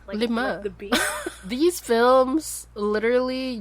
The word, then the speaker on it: Lima: No, like Lima, Lima, like the lima bean. Yes. But pronounced Lima. Lima, like 5.